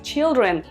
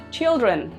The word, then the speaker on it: children: child child con ay en la forma del plural pronunciamos children con y children y por fin en